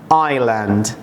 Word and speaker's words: island: ocean empty empty empty island island is silent do not say Iceland you know that Iceland is a country this is Island okay Island let me